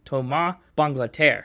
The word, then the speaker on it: Thomas Bangalter: It's pronounced Tom Banglader.